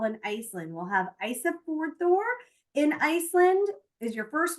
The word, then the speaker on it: Ísafjörður: We'll have Ísafjörður in Iceland is your first one. Akureyri, Iceland. Seyðisfjörður, Iceland. I know, and believe it or not, this is how you pronounce these.